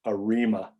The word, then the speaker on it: ARIMA: aggressive integrated moving average or we abbreviate those arima models that's the way this is pronounced in arima models we index with p